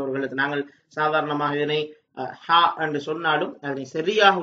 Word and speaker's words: ح: வித்தியாசமாக இந்த எழுத்தை பொறுத்தவரையிலே ஆங்கிலத்திலே இருக்கின்ற எச்சுக்கும் வட ஹானாவுக்கும் வித்தியாசமான ஒரு ஓசையிலே இந்த எழுத்தை நாங்கள் உச்சரிக்க வேண்டும் ஹா ஹா என்று நாங்கள் உச்சரிக்க